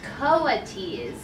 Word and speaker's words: coatis: These are coatis, Miss Brisbane said, reading from the letter, pronounced coatis.